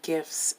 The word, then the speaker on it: GIFs: But anyways Um so yesterday on Tumblr and I just kept seeing gifs and- it's pronounced Gifs (Hard G like Gifts) I kept seeing gifs and photo sets of Bree Runway's new music video "Gucci" featuring Malibu Bitch ?